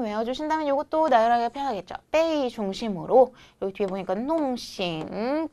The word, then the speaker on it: 被: 발음은 빼.